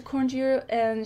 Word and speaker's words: Segura Viudas: Jane Staples says, "Actually, we have access to "Segura Viudas." I can never pronounce these. - Sigura Viudas.